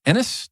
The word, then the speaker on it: Innes: on the show uh guitarist James Enis did I get that right the last name James yes yes he did that's one of the better pronunciations I've heard oh sweet Jesus even